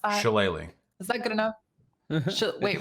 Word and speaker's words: shillelagh: cantrip that it's like Shilliga. Does anyone know how to pronounce that? Shillelagh.